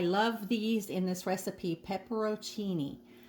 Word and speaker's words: peperoncini: these in this recipe pepero Cheney I think that's how you say it maybe peperoncini yeah I think that's more like it and you just need